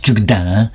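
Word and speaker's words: Tugdual: à l'heure Guénolé et tugdil tu enfin on le prononce tucdinin mais peu importe lorsqu'il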